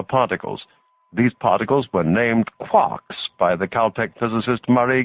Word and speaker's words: quark: instead of a t it is usually pronounced to rhyme with luck there are a number